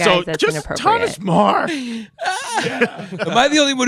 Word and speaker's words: Meagher: saying it's Thomas Meagher, not Meagher. Marr. No, he's not Thomas Marr. Not because if it's Meagher, it's just you can't say any words that are even close to anything. So you better just pronounce it right because it looks like